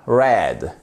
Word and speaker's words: read: avec un hon et ici ça se prononce exactement comme la couleur red noublie pas de faire